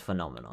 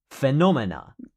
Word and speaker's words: phenomenon: It's four syllables. Phenomena. Phenomenon. Phenomenon. And the plural is phenomena. Phenomena. Yeah, more than one. They will say phenomenon. Phenomena. Phenomena as the singular.